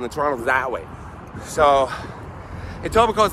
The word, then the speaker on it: Etobicoke: Fackler's house is in Etobicoke, which is between Toronto and Mississauga. Etobicoke, spelled Etobicoke. Shut up! Spelled Etobicoke, but pronounced without the K.